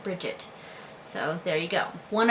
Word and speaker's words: Brigit: My youngest daughter, her first name is Brigit, but it could also be pronounced or spelled or pronounced Brid, which is a little bit more traditional, of course, but we do spell it Brigit and we pronounce it Brigit.